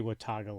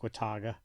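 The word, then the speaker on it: Watauga: wogo Wago whatever Wago I'm just going to say Wataga Lake I'll spell it out for you it is spelled w a t a u GA I'm going to say Wataga my Ohio accent that seems about right but uh started in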